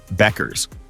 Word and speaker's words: Bueckers: Paige Bueckers pronounces her name Beckers, according to the UConn 2024-25 media guide.